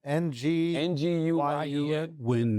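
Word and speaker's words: Nguyen: How you pronounce it, Chris? It's a Vietnamese name. NG ng U win is closest.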